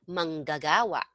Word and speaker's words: manggagawa: Um, manggagawa. Mhm. Manggagawa. Manggagawa. Okay, Mang. all right, manggagawa. So you pronounce the second G.